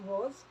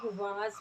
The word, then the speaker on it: was: थोड़ा इशू रहता है, दैट इज़ लोग वाज बोलते हैं, उसको वाज नहीं बोलते, इट इज़ वॉज and were.